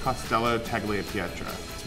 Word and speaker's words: Costello Tagliapietra: it fanatically it's just costello taglia pietra once you see it as little sections of three it becomes easier to pronounce